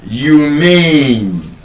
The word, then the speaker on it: humane: of English, these words, instead of being stressed on the first syllable, are stressed on the second syllable. And so, for example, we would have words like humane. H U M A N E humane humane I don't